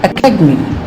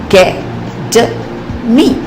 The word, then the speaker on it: academy: For example, in the word academy, academy, the second syllable is said with greater force. Academy, academy. Here, the syllable ca is stressed and all other syllables are actually squeezed.